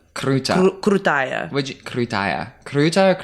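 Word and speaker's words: крутая: So krutaya's girl, kruta's boy? Yeah. Yeah, I thought so. Because Yeah. the flowery extra syllable of Exactly.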